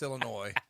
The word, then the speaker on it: Illinois: It's pronounced Illinois.